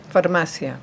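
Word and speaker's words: farmacia: Famasia because I thought sea was two syllables, but it isn't. Sea is one syllable in Spanish.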